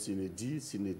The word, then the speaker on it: sine die: Voilà, bon, donc on prononce sinédie, mais on va dire sinédie.